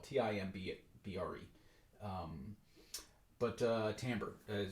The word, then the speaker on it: timbre: all it's it's uh very commonly mispronounced timber uh because of it's the way it's spelled t-i-m-b-r-e um but uh timbre